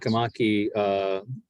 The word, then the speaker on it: Sakamaki: The one that Sakamaki, is that the correct pronunciation? Yes. That Sakamaki, he beached.